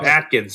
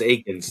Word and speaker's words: Akens: People call Atkins. It's like no it's Akens. There's no T. There's no T in it in there at all.